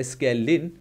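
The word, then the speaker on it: scalene: क्या बोलते हैं स्केलीन स्केलीन I guess last का ई इसमें साइलेंट है सो इट्स अ स्केलीन स्केलीन स्केलीन जो भी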